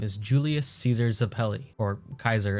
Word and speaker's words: Caesar: Julius Caesar Zapelli, or Kaiser as it's actually pronounced.